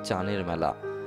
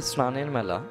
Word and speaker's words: স্নানের মেলা: হতে যাচ্ছে আরিচার বিখ্যাত চানের মেলা আসল উচ্চারণ হবে স্নানের মেলা কিন্তু ভাষার অপভ্রংশে ওটি এখন আসল নাম হয়ে গেছে তা নিয়ে অবশ্য ওখানকার